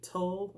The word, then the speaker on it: TUL: of people they're using the t-u-l brand tall i believe it's pronounced for the disc and